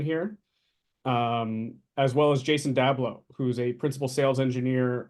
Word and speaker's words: Jason Dablow: doing with intervision yeah absolutely um so you pronounce my name correctly nick uh Jason dablo a principal engineer here at Tren micro I've